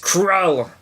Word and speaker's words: Krull: Krull, one syllable. Quite blunt. Yeah, just Krull.